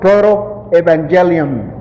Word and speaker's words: protoevangelium: Yo no sabía cómo se pronunciaba eso en inglés, tuve que investigarlo. Protoevangelium.